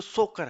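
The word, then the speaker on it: Tso Kar: ये इतना ध्यान रखना है कि जो सोकर है। अच्छा इसके अंदर टी साइलेंट रहता है। है ना? तसो आपको ध्यान रहे कि रहे कि ऐसा लिखा हुआ है जहां पे त आधा लिखा हुआ है मतलब वहां पे टी साइलेंट है तो यह सोकर झील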